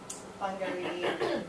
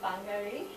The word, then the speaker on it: Wangari: this wonderful woman, and Wangari Maathai. You pronounce the W as an F apparently.